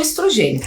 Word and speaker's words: estrogênio: a progesterona e o estrógeno ou estrogênio. Pode ser pronunciado das duas formas.